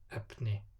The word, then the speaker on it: efni: Before L or N is pronounced like P. Keflavík, efni.